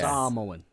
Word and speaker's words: Samoa: Samoan. Samoa. He Samoa.